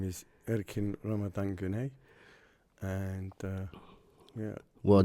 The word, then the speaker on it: Erkin: how it's pronounced in Turkish. So it went from Erkin to Egin to. Right. And it's spelled E-R-K-I-N. Right. So it's pronounced Erkin. So it was either or Erkin the Gherkin.